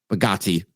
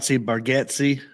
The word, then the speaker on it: Bargatze: from me, Nate, and I always say his last name wrong, Bagatti. I have like a weird, not a phobia of saying names. Like I get stressed when I have to say a name that's just not easy. Yeah. I've heard it pronounced Bargatze.